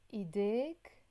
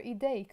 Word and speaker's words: ideik: Ideik or ideik, your hands masculine.